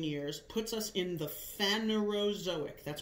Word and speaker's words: Phanerozoic: The most recent 500 million years puts us in the Phanerozoic. That's pronounced Phanerozoic. Zo means animal, right? Phanero is basically like first, like primitive. Phanerozoic.